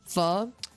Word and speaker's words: pho: city somewhere in the country where they served pho and ramen and other noodle things, but they served, their specialty was pho. And they called them, it was like the King Pho.